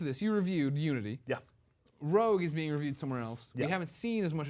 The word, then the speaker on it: Rogue: PlayStation 3 Assassin's Creed Rogue mhm also known as Assassin's Creed Rouge that is true that is another pronunciation of it uh no no not true at all uh impression that's aable